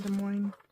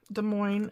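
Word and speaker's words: Des Moines: things about going to De Moine and De Moine is spelled D e s m o i n e s and it is De Mo unlike does Plains in Illinois I don't know why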